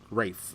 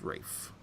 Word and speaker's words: Ralph: Ralph Fiennes was in that too. Yeah, Rafe. It's Rafe. It's Ralph. It's Rafe. Anyway, spell it. Ralph. Well, I'm just telling you how the man pronounces his own name.